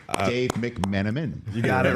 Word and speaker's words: McMenamin: How are Dave McMenamin?